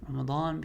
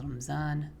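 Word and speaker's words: رمضان: Common mistake is, especially those from an Urdu speaking background, in Urdu this letter is pronounced with a Z sound. And so Ramadan becomes Ramzan, غير المغضوب becomes غير المغضوب.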